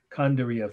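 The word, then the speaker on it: Kandariya: so i'll spell these two words slowly twice kondariya first word k-a-n-d-a-r i y a okay and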